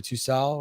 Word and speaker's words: Tussaud: Usually in French you don't pronounce the D, so Tussaud, right?